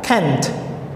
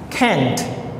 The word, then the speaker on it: can't: can't write he can't so we need the sound at the end why Kent and this one we can sound it 10/10 Kent great everyone number four